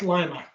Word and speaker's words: Lima: Pronounced Lima.